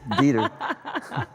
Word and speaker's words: Dieter: I would imagine you would pronounce that right. It's Dieter.